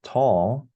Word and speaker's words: toll: Lack of sleep can take its toll on a person's overall health.